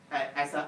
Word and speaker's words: Azure: Okay, for Microsoft, they pronounce this one as a ASA.